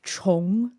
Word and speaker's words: Chong: Yeah, so the pronunciation is kind of like Chong, like Chong. like change almost, the ch in the beginning, Chong, and then you go kind of ong at the end, Chong.